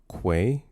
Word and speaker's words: Quay: Oh, it's pronounced Quay. It is Nomus. Say it with me now. Mm-hmm. With a Q. Quay.